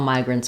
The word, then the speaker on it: migrant: You're moving and fleeing an area, but not all migrants are refugees. All refugees are migrants. The pronunciation of migrant, we have first syllable stress. Letter I says I, like in might or right.